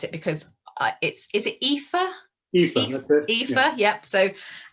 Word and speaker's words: Aoife: we've got, so I'm going to try and pronounce it, because is it Aoife? Aoife, that's it.